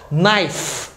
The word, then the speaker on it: knife: Outro exemplo semelhante aqui é a palavra knife. Knife. Lembrando que toda vez que você vê KN em inglês, jamais você pronuncia o K.